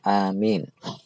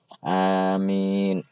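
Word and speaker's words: آمين: baca amin amin nah bacanya itu ya jadi dengan Alif yang panjang Amin karena kalau anda baca pendek itu artinya berbeda kalau amin Panjang itu artinya ya Allah kabulkanlah tapi kalau Amin itu artinya orang yang terpercaya Kalau anda baca pendek lagi Amin ah itu ya Allah berilah keselamatan maka beda-beda artinya jadi bacanya Yang benar amin Panjang ya karena di tempat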